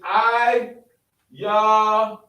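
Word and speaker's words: עילם: And how do you say it in Hebrew? Is I-Ya-Lam.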